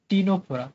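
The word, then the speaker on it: Ctenophora: আর টি থেকে হচ্ছে টিনোফোরা, যদিও সামনে সি আছে কিন্তু উচ্চারণ তো আমরা সিটাকে উচ্চ রাখি, টিনোফোরা।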